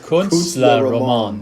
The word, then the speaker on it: Künstlerroman: Künstlerroman.